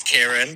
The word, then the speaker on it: Kieran: So, drag name is Kyron, like Ty, and my boy name is Kieran, but it's spelt the same way, so it can get confusing. But yeah, Kyron in drag, Kieran out. Kyron in drag, Kieran out of drag.